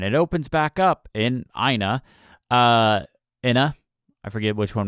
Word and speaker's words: IINA: Is it IINA? It's IINA. IINA? IINA? I would say IINA. IINA. Okay, we'll go with IINA then.